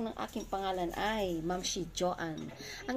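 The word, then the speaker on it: Joean: Ang bigkas po ng aking pangalan ay Mamshi Joanne. Ang spelling po kasi ng name ko is J-O-E-A-N. Pero, I pronounce it Joanne.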